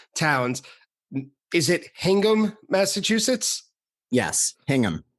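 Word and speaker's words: Hingham: Outsiders from Massachusetts have a bad habit of mispronouncing towns is it hangum Massachusetts yes hangam all right I got it right uh which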